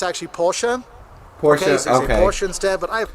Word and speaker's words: Porsche: we kind of half the people I know pronounce it correctly half don't you know some people say Porsche here it's actually Porsche pora Porsche instead but I yeah I've heard